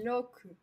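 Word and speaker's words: 六: 6, ça se dit loku.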